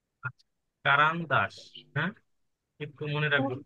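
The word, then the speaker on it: карандаш: আচ্ছা, তারপর হচ্ছে পেন্সিল, পেন্সিল কি বলে দেখেন, কারান্দাস। আচ্ছা, কারান্দাস।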